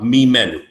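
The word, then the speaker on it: ממנו: Tanakh, in biblical Hebrew, can have two meanings, and it's pronounced exactly the same way. It can either mean reference to first person plural, mimenu, right, of us. It can also be third person masculine singular, him, mimenu, from him. Pronounced exactly the same way. Mimenu can mean us, it can mean him. No difference in the way it's pronounced.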